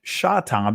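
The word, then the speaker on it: שׂטם: Even though in ancient Hebrew it's pronounced shatam because uh when we start dealing with the s sound when we deal with the sheen or in in the Israeli language it could be pronounced seen or sheen depending on where that dot that nikud or naquad is positioned.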